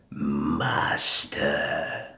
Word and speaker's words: Master: He doesn't pronounce the S as much. It's more mosh, like mosh pit. So, "In time, you will call me Master."